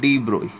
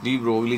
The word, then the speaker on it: de Broglie: इसकी exact pronunciation होती है डी ब्रोई। कैसे प्रोनाउंस होती है? डी ब्रोई, ठीक है। बट हम डी ब्रोगली जनरली यही बोला जाता है इंडिया में, आपको पता है।